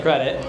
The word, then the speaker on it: Kredete: So, the company it it looks like it should be pronounced Credi and I've seen on some of your videos it's definitely Credit.